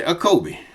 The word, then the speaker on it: Jacob: I say acob because I leave the J out. The J wasn't there at first. Some say acob, but I just say acob.